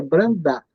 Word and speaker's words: Brandub: Irlandês, etc., antigo, falam que a pronúncia correta é Brandá, mas se escreve Brandub.